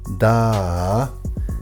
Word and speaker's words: da: classical latin word is da meaning give it is a command word and the ah is pronounced in a prolonged way and it is this